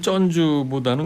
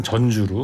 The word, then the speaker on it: 전주: 된다는 거지 민주당의 입장입니다 발음을 쩐주보다는 그냥 전주로 전주로 대통령실에서는 김건희 여사가 주가